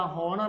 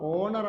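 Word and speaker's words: honour: അവർ എന്നാണ് എഴുതുന്നത് ആൻ ഇത് എന്താ ഹോണർ ആണോ ഓണർ ആണ് സ്വരാക്ഷരമാണ് ആൻ ഓണർ ആൻ ഓണർ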